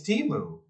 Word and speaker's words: Temu: It's Timu.